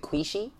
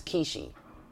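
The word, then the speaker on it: Quishy: ascended aspect of Saturn kishi is spelled qu I SH Y so is it is it qui she no it's key she anyway they help us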